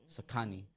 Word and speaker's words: Xikani: The original word is spelled Sekani. Xikani.